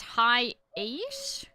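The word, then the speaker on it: Hiace: I think it's High Ace. It is pronounced like that.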